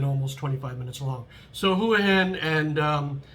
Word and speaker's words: Hua Hin: And the other is Hua Hin, which some people say Hua Hin because it looks like the Chinese word Hua, but it's Hua Hin.